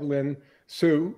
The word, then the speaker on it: Lynn Hsu: installment I absolutely do it's great to have Lynn Sue right that's right ready to pronounce it yes uh and Lynn have we